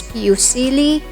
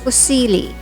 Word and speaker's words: fusilli: read it as is some americans pronounce this as piucili but then since italian says pusili with an emphasis on the double consonant l gnocchi it's the italian